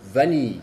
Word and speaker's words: vanille: Como se dan cuenta, se dice la A normal y la N con la I que sigue. Vanille. Vanille. Espero ser lo más claro posible en eso. Es vanille y no en.